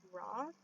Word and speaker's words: Roth: peter tom peter thomas roth i almost said peter thomas raw i said it wrong but okay so this